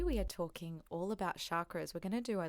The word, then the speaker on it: chakra: it's probably good to know what is a chakra for those that haven't some people call them chakras as well there's all different pronunciations yeah look chakra is actually the correct